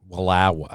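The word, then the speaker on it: Wallowa: to particularly walawa county oh you got to say it right i'm not going to let you say it like that in here walawa what did i say walawa okay walawa there you go get that twang in there all right walawa and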